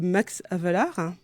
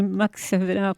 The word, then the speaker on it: Max Havelaar: Il y a le Max Havelaar. Oui. Je pense que je prononce bien. Oui, c'est Havelaar, voilà.